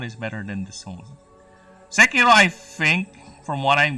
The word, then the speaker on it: Sekiro: I might start with Sekiro. Oh, sorry, I mispronounced it. It's Sekiro. Sekiro. Sekiro. Something like that. It's not racist. I am pronouncing it as the way the culture would say it.